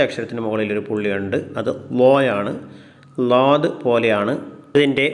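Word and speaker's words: ض: ഉച്ചാരണം ലാദ് എന്നാണ്. ഡി എച്ച് എ എ ഡി ലോദ് ലോദ്. നാക്കിൻ്റെ ഏതെങ്കിലും ഒരരിക് അണപ്പല്ലുകളോട് ചേർത്തിട്ടാണ് ഇത് പറയേണ്ടത്. ലോദ് ലോദ്.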